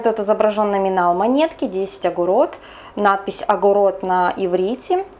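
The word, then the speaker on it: אגורות: На самом деле, если правильно произносить по-русски, то скорее всего это будет звучать как 10 агур, потому что в единственном числе звучит как 1 агура. Но в иврите во множественном числе это звучит как агурот, поэтому практически все, даже говоря по-русски, все произносят именно 10 агурот, 20 агурот и так далее.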